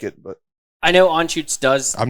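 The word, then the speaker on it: Anschütz: one says it right some people put the letter l in it i've done that before i used to call it anne schultz yeah that's a pennsylvania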